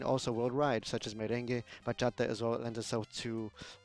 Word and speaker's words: bachata: The bachata is a music genre, and in Spanish it says bachata, and so it's not a bachata. To properly pronounce the name and to describe it and to respect it, you say bachata.